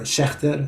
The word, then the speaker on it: Schaechter: The original pronunciations were Schechter, Schechtman, Schechterman, and.